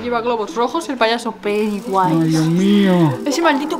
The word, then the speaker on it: Pennywise: Pennywise, que se escribe así. Se dice Pennywise.